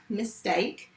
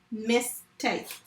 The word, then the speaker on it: mistake: Let's say the word mistake. How many syllables were there? Mistake. 2. So although there are 3 vowels in this word, the E is silent.